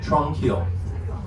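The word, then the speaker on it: Tranquille: or tranquil tunnels and that's spelled kind of like the French version of the word tranquil t r a n q UI l l e Tron kill when we emerge from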